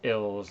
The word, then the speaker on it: Ills: It's ILS, but it says I was like, I hope when I was gonna do this, I was like, I hope they put how to pronounce it on their Bandcamp page, and that is the first thing that is noted. It's pronounced Ills.